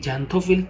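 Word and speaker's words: xanthophyll: জ্যান্থোফিল যেটা আছে না, এই জ্যান্থোফিলটা বলতে গেলে না একটা হয়ের মতন উচ্চারণ হয়, জ্যান্থো, তারপরে এই থয়ের সাথে একটা সাইলেন্ট হ এরকম থাকে, তাই না? তো এরকম হইতো জ্যান্থো তারপরে ফিল।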